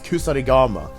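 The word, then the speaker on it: 鎖鎌: So therefore it becomes kusarigama. The original syllable without the dakuten is ka into the gamma, so the word and the kanji itself, the Chinese character, becomes kama.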